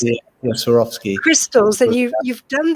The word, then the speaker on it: Swarovski: tell us more about that you you take schwerforski i can never pronounce it swarovski crystals and you you've done these baths for